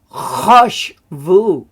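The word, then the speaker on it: חשבו: is an interesting one it's harsh Vu now why hush why not hush vu well it's probably a traditional way of saying it and the the grammar rule is it said as a short o only in a closed and unaccented syllable which is usually the first because the first syllable is normally unaccented it's always the accent's always on the last syllable right so it's vu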